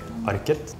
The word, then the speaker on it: Arket: So some places in Norway, you would pronounce a T, so you would say arket. And another place in Norway, you would just drop the T, like my accent, and then it would just be arke.